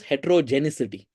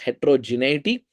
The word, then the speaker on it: heterogeneity: Uh so one one thing a a common pronunciation error that many people do is they call this heterogenicity. There's no C in this.